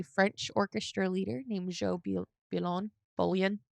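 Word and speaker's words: Bouillon: And then in 1947, she would marry a French orchestra leader named Joe Bullion. It's spelled like bullion in English.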